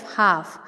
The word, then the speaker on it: half: HALF हाफ. HA हाफ, तो एल का ल का साउंड नहीं आ रहा है, सो इसलिए इसमें एल साइलेंट है.